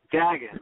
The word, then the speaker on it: Dagen: Is that how you pronounce it? Is it Dagen? Dagen? Dagen, like dragon without Dagen.